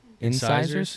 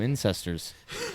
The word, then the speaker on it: incisors: you'll Is that Go how on you the pronounce website. that? what? Incisors? Incisors. Oh, I was Yeah. calling them incestors.